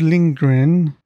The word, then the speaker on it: Lindgren: Lindgren, is that how you pronounce it? Hold on. Astrid Lindgren. There, it's that. Astrid Lindgren.